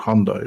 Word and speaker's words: Hyundai: There's a load of adverts in the UK, like Adam is saying, they've just started saying it's called Hyundai, which is how you're supposed to pronounce it.